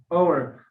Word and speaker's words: hour: For example, like an hour. I told you when we face to H, we should use a. But in this place, the H sound is silent.